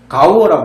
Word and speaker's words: gaur: 발음은 가우어라 부르는데요.